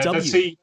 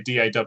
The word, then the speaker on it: DAW: Will is saying ask a Brit to say door, and Yeah, DAW. Well, that's right. Well, that's why I don't say door. I say DAW, because if I say